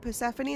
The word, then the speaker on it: Persephone: Wait, Persephone? That's how you say it. I always say Persephone.